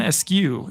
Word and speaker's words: Askew: And that every one of my descriptions at the bottom says, subscribe to join the Askew Crew. I'm Askew, even though my last name is actually pronounced Askew.